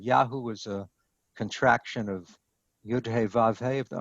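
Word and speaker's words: יהוה: Number 3, he sets up a contest between Baal and Yud-He Vav-He. That's how I pronounce that 4-letter name, just sounding out the Hebrew letters, Yud-He Vav-He.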